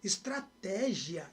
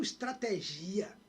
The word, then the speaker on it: estratégia: Estratégia e não estrategia.